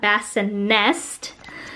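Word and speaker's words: BassiNest: is the halo essentia bassin nest i accentuate the nest because everyone always thinks that i am saying it wrong but it's actually pronounced nest and i just really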